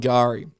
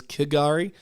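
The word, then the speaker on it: K'gari: suspected dingo attack on Gari. In the past, I've pronounced this island as Kagari. Uh but it's but it's um it's not Kagari.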